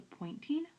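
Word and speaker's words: Poynting: point but the vector s is called the pointing vector named after somebody and so it's spelled like this but the pointing vector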